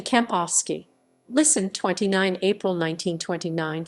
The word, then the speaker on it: Kempowski: walter kampowski walter kampowski german pronunciation walter kampovsky listen 29 april 1929